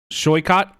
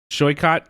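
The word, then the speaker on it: Saikat: So, we've got Shyot, I believe is how you pronounce his name. Shycott Shakurbarti.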